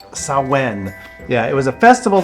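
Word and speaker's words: Samhain: of years to the Celtic Festival called saen yeah it's spelled really weird Sam h a i n but it's Celtic so it's saen yeah it was a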